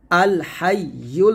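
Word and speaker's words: الْحَيُّ: ইয়ালাম পেশ বলতে হবে এখানে ভুল করি বলি উচ্চারণটা হামজার মত করে ফেলি ভুলটা করবেন না আল হাই ইয়ালাম পেশ আলহাইুল আল হাই আলহাই দেখুন আল হাইউল বলতে হবে ইউ কফ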